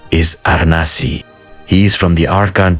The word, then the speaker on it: Anansi: Anansi, which is being pronounced as Anansi, literally means spider in the Akan language.